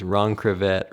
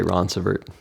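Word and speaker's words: Ronceverte: Ron Crevette, Ronverte. Um, but we just say Ronvert. So, it's French for Greenbar, but we don't say it as if it was French. It's a redneck version.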